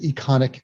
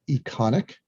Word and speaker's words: Econiq: But we added Econic and Pulse 360 that are both related to